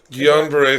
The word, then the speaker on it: Guillain-Barré: How do I pronounce this? Guillain-Barré syndrome is what I'm.